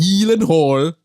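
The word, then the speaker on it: Gyllenhaal: guy you got mysterious who's real surname is pronounced healing Hall is it really yes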